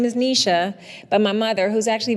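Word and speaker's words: Knyja: So it's Nisha, but it's spelled K-N-Y, I know. What? I know.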